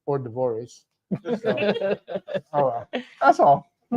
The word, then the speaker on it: hors d'oeuvres: a public service announcement, and there'll be free hors d'oeuvres there. And then, so someone called me and go, it's pronounced hors d'oeuvres.